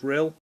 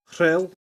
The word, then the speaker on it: Rhyl: in a place called Rhyl in North Wales, or should I say Rhyl, if you want to pronounce it properly. Rhyl is perfectly acceptable to 90% of people, but whatever.